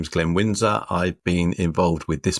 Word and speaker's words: Glenn Wynsor: Today we have Glenn Windsor, which is Did I pronounce that well?